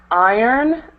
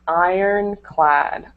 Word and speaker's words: iron: good um let's see this word iron uh we don't pronounce the r in it so it's just Ironclad Ironclad what that mean